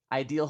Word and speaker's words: idēl: It's spelled idēl Hawaii. That's IDEL with the macron above the E. That's the long E sound. That's the line over the E.